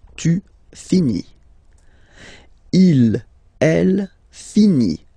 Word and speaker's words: finit: Il, elle finit. So I-T, final T not pronounced.